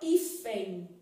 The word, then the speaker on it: hífen: por exemplo a palavra hífen olha aqui o h não é pronunciado também né e sem só tem som de i tá vendo Então bem